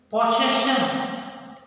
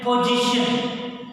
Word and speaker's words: possession: Grandfather, it is my prized possession. Children, some people pronunciation, wrong pronunciation, position, that is wrong. Possession. No children, possession.